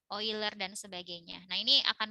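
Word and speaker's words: Euler: oil leur dan lulur ya boiler bacanya oil er dan sebagainya nah ini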